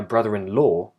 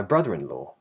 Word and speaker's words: brother-in-law: So I wouldn't say, have you met my brother-in-law? I would say, have you met my brother-in-law? Yeah.